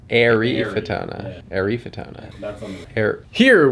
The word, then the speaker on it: Eryfotona: Emphasis on the I. Eryfotona. Like you're airy. Eryfotona.